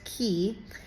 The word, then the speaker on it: Quay: But so the really cool thing is if you take the Manly Beach Ferry from Circular Quay, spelled Quuay, but pronounced Key.